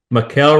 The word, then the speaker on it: Michele: Michele rhymes with doing well. Michele, I like that. And what nationality is that? The name is Italian.